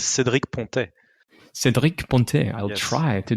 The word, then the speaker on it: Cédric Pontet: My pronunciation is not if you want the French accent, it's Cédric Pontet.